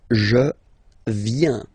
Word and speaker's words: viens: First form, je viens. Final S not pronounced. Je viens. Remember, I-E-N, ien, ien.